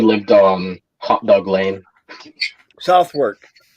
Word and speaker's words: Southwark: Southwark. Southwark. That's what most people said. It's pronounced Southwark. It's on the edge of London. Southwark.